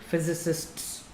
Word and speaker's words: physicists: this is pronounced as physicists to make it plural if you don't pronounce the last syllable sir it will make it singular the second thing is